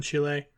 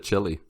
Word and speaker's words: Chile: lot of them in chile it was interesting yeah but now it's over good job pronouncing it chile instead of chili i've been watching that